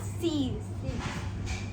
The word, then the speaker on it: six: Six is said as 6, but we pronounce it as C's.